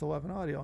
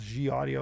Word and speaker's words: Eleven Audio: and we asked him Michael, oh it's just 11 Audio. And we're both laughing our ass off because it's like we're trying to pronounce G audio.